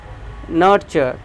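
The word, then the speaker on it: nurture: रहा आपके स्क्रीन पर नर्चर कहता है नर्चर ये नेचर नहीं पढ़ेगा नर्चर कल्टीवेट फास्टर नेगलेक्ट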